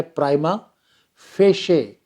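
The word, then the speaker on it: prima facie: ये जो मैं शब्द बोल रहा हूँ ना, इसका उच्चारण आप अच्छी तरह से सीखना। इसको मैं देखा है काफ़ी लोग गलत बोलते हैं। मैं दोबारा बोल रहा हूँ, ऐसे शब्द का उच्चारण होता है प्राइमा फेशे।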